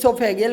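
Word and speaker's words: oesophageal: है मतलब यहां पर ओो फैगन लिखा हुआ है ना तो ओ साइलेंट रहता है तो इसको सोफे गियल पढ़ा जाता है मतलब गेस्ट्रो सोफे गल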